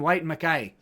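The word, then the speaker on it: Whyte & Mackay: bottle of white makai i was corrected on the uh pronunciation white makai uh i'm not very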